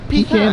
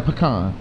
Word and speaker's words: pecan: nasty though that's high I pronounce it but pecan or pecan that stuff is good